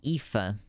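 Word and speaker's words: Aoife: like you know if i see the name ifa i know that that's what that means and if you know how ifa is spelled you would be shocked to know that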